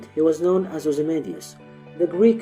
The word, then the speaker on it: Ozymandias: So when he says Ozymandias, he fits just 10 syllables on his line. If he said it the way I say it, then he would have an extra syllable, and it would not fit the pattern.